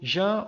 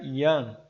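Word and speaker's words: Jan: dois mil e dezenove por Jean old house né em alemão se pronuncia Ian tá o MSN ele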